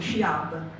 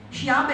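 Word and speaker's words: Sci-Hub: questo sito quando io ve la pronuncia all'italiana perché sennò in Italia è comprensibile di quello che sciab 6 milioni di download al mese sciabe il sito pirata messo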